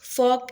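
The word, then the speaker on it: fork: pronounce नहीं करते एक एग्जांपल लेते जैसे कि फॉक एंड नाइफ अब फॉक के स्पेलिंग क्या होते हैं एफ ओ आर के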